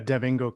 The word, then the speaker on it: DevIngo: And Mike he's the owner of, how do you say it, Devingo Consulting Company? Yeah, Devingo Consulting Company.